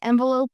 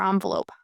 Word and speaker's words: envelope: You can say envelope or envelope. By the way, both pronunciations are common in American English.